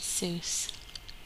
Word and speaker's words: Seuss: IGN ignominy his name is mud Dr Seuss pronounced Seuss such that it red with Rejoice so Dr